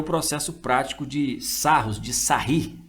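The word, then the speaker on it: Sarrus: Então esse aí é o processo prático de Sarros, de Sarri. A gente pronuncia aí Sarri, viu? Muita gente usa Sarros, mas a pronúncia mais correta seria Sarri.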